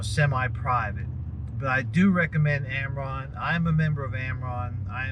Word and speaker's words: AMRRON: And one way I'm going to recommend that you do that is if you're not a member of AMRON, and that's spelled AMRRON, and I'll put a link up, then you need to join AMRON.